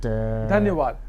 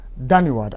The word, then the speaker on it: Dhanyawad: I was struggling to find, the Indian word for thank you, but Dhanyawad. Dhanyawad. I saw it, but how to pronounce it in Indian was becoming a bit of a challenge for me.